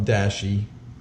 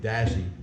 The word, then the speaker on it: dashi: to one cup of Dashi or Dashi I've been some users have commented at my Japanese accent is terrible and they're right uh it's dashi's the better pronunciation I'm gonna say Dashie so two tablespoons of